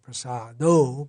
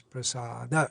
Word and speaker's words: Prasada: And generally, our devotees in ISKCON sing Sri Bhagavat Prasado, but technically correct is Prasada, Sri Bhagavat Prasada here.